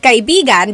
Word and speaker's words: kaibigan: So kaibigan is friend. Kaibigan. Do you hear how I'm saying it?